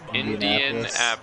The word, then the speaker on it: Indianapolis: Indianapolis. So it's Indianapolis. Indianapolis. Yep. You gotta say it like Indian. Like, I like curry, I'm Indian. Indian. Apples is an apple.